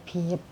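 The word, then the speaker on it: 비읍: Ini kita bacanya B ya, mereka bilangnya biep. Ini bacanya biep ya.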